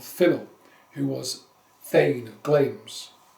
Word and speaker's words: Glamis: He was son of Finnel, who was Thane of Glams, spelt like Glamis for the English people who don't know how to pronounce Glams.